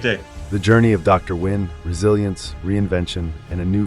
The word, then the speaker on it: Nguyen: Nguyen, and he goes by Nguyen, American pronunciation W-I-N, okay?